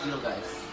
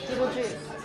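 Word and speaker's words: Beetlejuice: Beetle guys. Beetle guys? Juice. Beetle juice.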